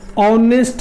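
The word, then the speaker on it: honest: उसके बाद ये लिखा हुआ ऑनेस्ट मैन, तो एन ऑनेस्ट मैन होगा। यहाँ भी अ प्रोनाउंसिएशन है, यहाँ भी अ प्रोनाउंसिएशन है।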